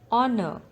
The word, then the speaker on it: honor: this word i land honor the letter silent in this word is h honor handkerchief d is silent